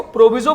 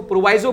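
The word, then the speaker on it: proviso: तो मैं इसको प्रोविजो बोलता हूं, आप चाहे इसको प्रोवाइजो बोलना, दैट इज योर चॉइस.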